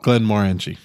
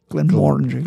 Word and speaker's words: Glenmorangie: story i found about glenn maranji no glenda orange oh yeah you're right i did say it right now you ruined it